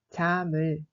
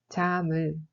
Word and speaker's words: 잠을: 잠을 se prononce comme 잠을, 잠을.